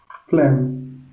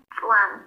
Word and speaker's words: phlegm: I think you said it better the first time. So just phlegm. Phlegm. There you go. Yeah. Exactly. It's a little bit different, like a phlegm and like flame.